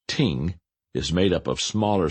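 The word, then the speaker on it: 聽: gave tremendous insight into the concept the word pronounced Ting is made up of smaller symbols with specific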